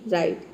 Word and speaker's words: write: देख सकते हैं कि यहां पे भी डब्लू जो है साइलेंट रहता है और आर आई हो गया टीई राइट ठीक है डब्लू साइलेंट हो गया और आर के लिए हो जाएगा यहां पे र के लिए हो जाएगा आर और आइट के लिए हो जाएगा आईटी ई राइट तो आपको पता है